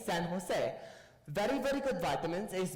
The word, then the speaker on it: San Jose: Castilian Spanish is pronounced very different than English. Barcelona is Barcelona. San Jose is San Jose.